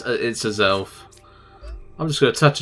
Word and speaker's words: Azelf: I never know how to pronounce it properly. Yeah, it's Azelf.